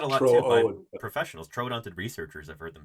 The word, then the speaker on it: Troodon: I don't know uml but those two dots and that was to emphasize that it was two different syllables that it wasn't trudon but it was Troon trodon yeah I still see